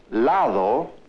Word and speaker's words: lado: When the da sound occurs between vowels, it is pronounced th. Thus we have lado, meaning side, like this side of the street, or duda, meaning doubt.